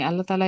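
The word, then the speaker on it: الله: শিখবো এখন কথা হচ্ছে আল্লাহু শব্দের লামকে দুই ভাবে পড়া আল্লাহকে কয় ভাবে পড়া যায় দুই ভাবে আচ্ছা কখনো পোর আবার কখনো বারিক অর্থাৎ কখনো মোটা কখনো পাতলা পোর শব্দের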